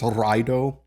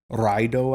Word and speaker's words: Raido: And then we have, this is actually another one where people pronounce this as raido. Raido, I think. That actually makes absolutely no sense linguistically. It's raido. Raido.